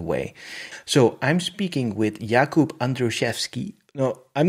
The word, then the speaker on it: Jakub: it wasn't that bad so in polish we say jakub but it can easily be said in an english way so the jacob one also okay and your